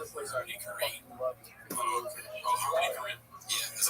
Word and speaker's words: Harmony Korine: Oh, Harmony Korine.